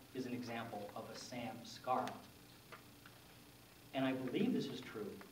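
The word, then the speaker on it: samskara: say it with me Samar one more time Sam Scar and Sanskrit is great because if you wonder how it's spelled it's spelled just like it sounds Sam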